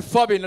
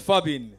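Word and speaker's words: phubbing: Yeah, man, make sure you go home and spread the word fubbing. Let me spell it for you. P-H-U-B-B-I-N-G. P-H-U? Yes, fubbing.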